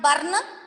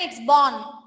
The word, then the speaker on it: born: It's not burn. Don't pronounce R, children. It's born.